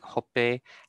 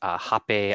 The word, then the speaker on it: hope: We have words like hope and a-ale and a-ole and a-ohe that can be pronounced as hape, a-ale, ahe, right? So these have o and a sounds in them.